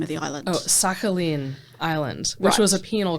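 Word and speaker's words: Sakhalin: and you're going to tell me how to pronounce the the name of the island oh sakin Island which was a penal colony which zarus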